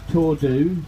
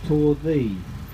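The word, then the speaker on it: Torddu: at or thee no it's not tor do it's tore the p.o RDV you correctly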